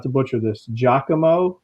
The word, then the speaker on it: Giacomo: Giacomo. That's the way Nolan told me to pronounce it.